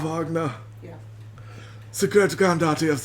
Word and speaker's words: Wagner: The German pronunciation is Wagner.